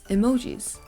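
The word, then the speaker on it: 絵文字: and then in Chinese this is just another pronunciation the last one we have here is emojis so this word is originally from Japan because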